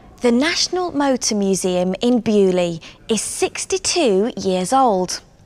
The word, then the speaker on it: Beaulieu: in England but beerley is a French word in English we say bewley but in French it's Beau Lia beautiful place thank you